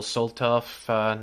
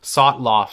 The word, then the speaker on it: Sotloff: to kill Time journalist Joel Soltoff next, or Sotloff, sorry, I've been pronouncing it wrong.